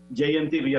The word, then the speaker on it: JMTV: Las siglas se pronuncian en inglés. JMTV, así le conoce todo el mundo aquí en Sosúa.